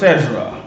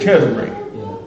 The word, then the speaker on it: Cesare: Also pronounced Cesare. You know? Also pronounced Cesra. You know? Pronounced different ways being on which country you in. In Italy, it's actually Cesare. think it's Cesar is like in France.